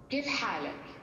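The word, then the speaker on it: كيف حالك: Kif halak.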